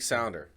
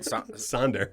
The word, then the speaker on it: sonder: Yeah, word of the week, sounder. Brought to you by, did I say it right? Sonder. Sonder. Yeah. Not sounder. Not sounder, sonder. That sounded like flounder, like the fish, which is delicious.